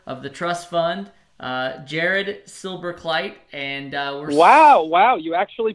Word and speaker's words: Silberkleit: know the benefactor of the trust fund Jared silver kite and wow wow you actually pronounced it correctly that never that almost never